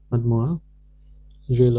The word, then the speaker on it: mademoiselle: This one is mad moo zel. Mademoiselle or mademoiselle.